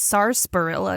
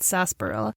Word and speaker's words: sarsaparilla: Also, it's sarsaparilla, not sarsaparilla. It's sarsaparilla, but it's the R is silent for some reason.